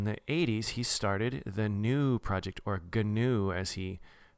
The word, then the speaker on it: GNU: So in the 80s, he started the GNU project, or GNU as he pronounces it, and it's GNU, and the acronym